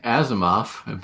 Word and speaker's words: Asimov: scientist yeah you can predict just be wrong on most of it well Isaac Asimov that's how you say his name and a